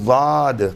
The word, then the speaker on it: ضاد: ادا کرنا بھی صحیح۔ یہ ضاد کبھی بھی باریک دال یا پر دال کے مانند نہیں ہے، بلکہ اس کے تلفظ